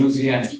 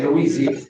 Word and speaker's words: Louisiana: Now that's how they say it in Louisiana. They don't say Louisiana, it's Louisiana, at least down where my folks are from.